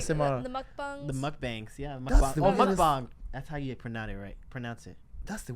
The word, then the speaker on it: mukbang: the mukbangs. The mukbangs. Yeah. That's the Oh, weirdest- mukbang. That's how you pronounce it.